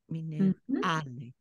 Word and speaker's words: minerale: On the first word, it's on the a, again, the penultimate syllable, and minerale, again, penultimate syllable, minerale, a.